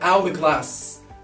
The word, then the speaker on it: hourglass: Same for hourglass.